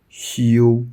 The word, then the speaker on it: 休: Lead sound 西、西、西。 Follow sound 悠、悠、悠。修、修。 First tone 修、修、修。